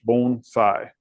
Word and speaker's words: bonsai: it's it's pronounced and you can think of it as b o n e phonetically and then si gh bon sai uh I may slip